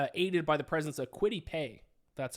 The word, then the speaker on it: Kwity Paye: going to be aided by the presence of Kwity Paye. That's how you pronounce his name for the Colts on the defensive line.